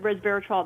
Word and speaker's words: resveratrol: me well fantastic are we saying resveratrol correctly you know what you are it is a bit of a mouthful but resveratrol that's correct how you say it okay good because i